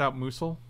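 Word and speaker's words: Outmuscle: It's pronounced out muscle.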